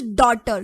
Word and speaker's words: daughter: This daughter. So GH are the silent letters here.